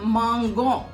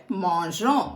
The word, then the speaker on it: mangeons: இல்லாட்டினா அது மாங்கோம் அப்படின்னு சொல்லிட்டு வரும். அதனால நூ வர்ற இடத்துல ஒண்டி இருக்கும். அப்பதான் நம்ம ப்ரொனவுன்ஸ் பண்ணும் போது மாஞ்சோம் அப்படின்னு சொல்லிட்டு ப்ரொனவுன்ஸ் பண்ண முடியும்.